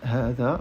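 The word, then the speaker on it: هذا: Mais donc il faut savoir que hadha se prononce hadha, même si dans le texte, et d'ailleurs souvent dans les textes en arabe, on ne trouve pas la prolongation ici, à l'écrit.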